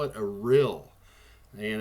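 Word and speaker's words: rille: lava flow in fact they call it a real and it's spelled r-i-l-l-e and their best guess on this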